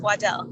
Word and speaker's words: Waddell: Waddell? Yes, Waddell, yeah.